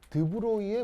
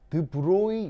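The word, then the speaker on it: de Broglie: 사람이 이제 프랑스 사람이어가지고 이름이 좀 드브로이 뭐 이렇게 읽나 봐요. 그래서 이제 끝 어미가 이러면, 근데 불어는 배우질 못해가지고 발음을 명확하게 모르는데, 하여튼 보통 읽을 때는 드브로이 이렇게 읽습니다.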